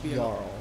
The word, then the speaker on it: Jarl: So, I've also been pronouncing this guy's name wrong. It's Jarl.